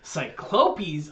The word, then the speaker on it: cyclopes: correct the plot the plural of cyclops is cyclopes and that's the correct pronunciation to cyclopes according to merriam-webster that yeah merritt winster the